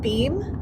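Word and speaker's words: Boehm: As I was telling Jesse, Edward and Helen Beam, I believe is the way they pronounce their last name, made this porcelain.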